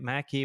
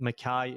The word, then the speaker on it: Mackay: with my last name there's about five different ways you can say it Mackie McKee McKay I don't even know nobody ever says it Makai so the biggest reason was just the rhyming so that if you even read it you would hopefully understand that Makai is said the way that it rhymes with guy so Makai the